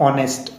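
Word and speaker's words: honest: की साउंड फिर से ऑनेस्ट एच साइलेंट है अ की आ रही है जो कि वावल साउंड है इसीलिए इसके पूर्व एन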